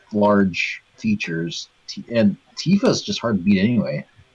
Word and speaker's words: Tifa: It's just that, I mean, if you like large features, and Tifa's just hard to beat anyway. Tifa's cool. Tifa rhymes with FIFA, says TMF.